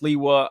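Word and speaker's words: Sliwa: I believe it's pronounced Leewa of the uh um man, I I forget what are the name of the people with the red hats.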